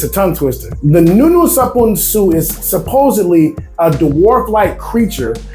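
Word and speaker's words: nuno sa punso: Punso. No, punso. It's a tongue twister. The Nuno Sapunsu is supposedly a dwarf-like creature, right?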